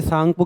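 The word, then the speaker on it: Tsangpo: अभी से सांगपो कैसे बन रहा है? टी से, तो टी साइलेंट रहता है, जैसे सुनामी में टी साइलेंट रहता है, वैसे ही इंडस सांगपो सचर जोन।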